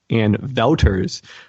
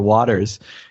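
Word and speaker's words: Anne Wauters: was from Belgium, and her name was actually pronounced Anne Wouters, but because it was spelled Wauters, like just everyone in the U.S. automatically called her Waters.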